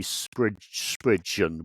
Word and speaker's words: Spriggan: So it looks like Spriggan, but I believe they say Spridgeon with a sort of D in there somewhere.